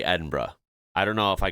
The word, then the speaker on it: Edinburgh: Any American where I'm from, they go, oh yeah, Edinburgh? No, Edinburgh. It's quite simple. Just read the word. That's all you have to do, the bare minimum.